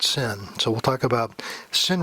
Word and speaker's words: SYN: it sync they called sy n which is pronounced sin so we'll talk about sin requests which is